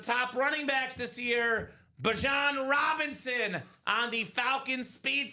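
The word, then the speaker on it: Bijan: We thought it was Bejon. Apparently pronounced Bjon Robinson that clean Falcon Flex.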